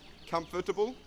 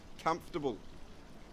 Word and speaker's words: comfortable: vegetable comfortable and vegetable we don't say comfortable we say comfortable if we get rid of the o.r we will pronounce this word perfectly comfortable my bed is